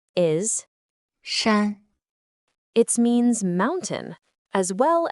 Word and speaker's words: 山: Its pronunciation is 山 It means mountain, as well as things that resemble a mountain.